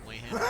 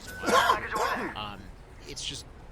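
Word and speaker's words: Zweihänder: that got upset that I always pronounce it as way-hander instead of Zweihander.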